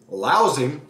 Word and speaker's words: Laozi: So, since this is the first time Laozi, pause right there, Laozi, L-A-O-Z-I, don't get the pronunciation wrong, comes from, and you'll see in the video that I attached in the story.